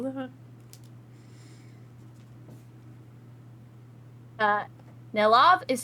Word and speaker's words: Nellav: Uh, Nellav is spelled N E L L A V.